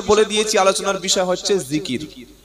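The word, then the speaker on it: ذكر: উপরে বিষয়টা হচ্ছে আল্লাহর জিকির কি নাম বললাম জিকির জাল কাফ র তিনটি অক্ষরে একটা শব্দ জিকির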